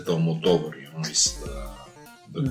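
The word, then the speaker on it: Almodóvar: Maybe not everyone knows Pedro Almodovar or Almodovar, because the punctuation is on the O.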